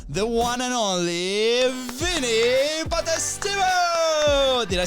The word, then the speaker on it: Potestivo: So please welcome the one and only Vinnie Potestivo.